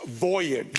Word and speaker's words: voyage: The accent's on the first syllable. It's voyage.